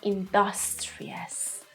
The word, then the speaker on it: industrious: can use the adverb be a little bit careful about the pronunciation if you want to use it in your speaking you are Industrial but may work in an industry industry just like interest then we have industrious industrious they are industrious